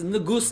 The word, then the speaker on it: negus: It's nugus, not nigga.